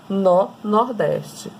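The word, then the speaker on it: nor-nordeste: Então, é N com o norte com o nordeste, que vai dar nó-nordeste. É assim a pronúncia.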